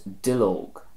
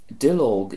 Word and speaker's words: duilleog: Our next word is Dill Oak. Dill Oak is the Irish for a leaf, and this again comes from 2 words fusing together.